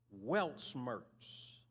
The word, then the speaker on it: Weltschmerz: This word, it's a German word, and I want to pronounce it. I've been practicing. Weltschmerz, spelled W-E-L-T-S-C-H-M-E-R-Z, Weltschmerz.